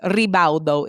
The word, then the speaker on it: Ribaudo: Ribaudo is how you say it.